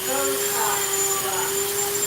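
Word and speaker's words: Beaux: Not to be rude, friends, her name is Botox. Got it. Thank you. Botox, like the stuff you put in lips. Right, but it's spelled B-E-A-U-X.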